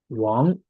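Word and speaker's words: 王: And here is the down part, pronounced Wang. It means king, Wang. And this character itself pronounced Wang. You can see the resemblance here. Remember Wang, you remember this one's pronunciation. And it just has different tones. So Wang.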